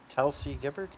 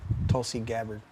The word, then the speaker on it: Tulsi Gabbard: Telsey Gibbard. Tulsi Gabbard. Gabbard. Sorry, I mispronounced it.